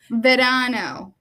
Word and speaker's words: verano: Verano.